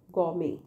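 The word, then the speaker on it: gourmet: है ना तो गमी मैंने आपको दो चीज बताई इसमें में ट का साउंड नहीं है साउंड है और आर नहीं है ग में और जिसका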